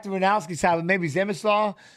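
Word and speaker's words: Przemysław: Zemislaw? Yeah, I just say Ranowski. I like the Runowski side, but maybe Zemislaw. The P, the R are silent.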